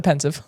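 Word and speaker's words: Pensieve: I have to say it like Dumbledore says it, The Pensive.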